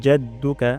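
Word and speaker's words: جَدُّكَ: মানুষ ভুল করে তারপর জাদ্দুকা এখানে আইন গলার মাঝখান থেকে উচ্চারণ হবে আ উচ্চারণ করবো না হামজা উচ্চারণ করবো না তাহলে এখানে হামজা হয়ে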